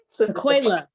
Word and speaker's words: Tequella: Tequella.